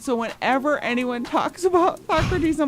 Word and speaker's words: Socrates: And they don't know how to say Socrates cuz it's spelled S O C R A T E S. So, they call them SOrates.